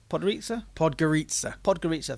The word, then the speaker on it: Podgorica: Podgorica, thank you. My pronunciation has got even worse.